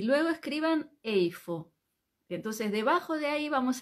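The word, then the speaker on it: איפה: importante y Cómo se dice dónde se dice eifo e i f o Entonces vamos a yo les pido que en el cuaderno Ustedes pongan un título que diga dónde y luego escriban eifo entonces debajo de ahí vamos a ir poniendo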